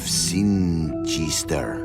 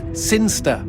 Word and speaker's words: Sinister: But Elliot Thomas was still stuck down on Earth in the boring town of Sinister. Sinister. Sinster. What? It's pronounced Sinster.